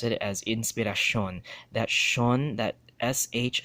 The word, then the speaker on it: inspiración: From Sion to Shon, right? Sion to Shon. Example right here. Inspiración, right? And instead of pronouncing it as inspiración, they will pronounce it as inspiración.